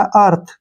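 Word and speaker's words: earth: तक पढ़ते हैं इसको ई ए आर टी एच ठीक है ना ई ए का उच्चारण हमेशा अ के रूप में होता है और टी एच का उच्चारण थ के रूप में करते हैं और र के लिए हम यहां पर मात्रा लगाएंगे यह बन गया हमारा अर्थ क्या बन गया अर्थ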